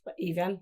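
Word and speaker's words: Evyn: It's spelled E-V-Y-N, and then she says, pronounce Even. Even.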